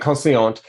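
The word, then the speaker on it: Conseillante: Am I saying that right? Consciente. Right, Consciente.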